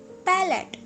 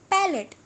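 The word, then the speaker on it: palate: हम तालु कहते हैं यानी के पलेट इट्स नॉट प्ले इट्स पलट पलट मतलब ताल्लू अब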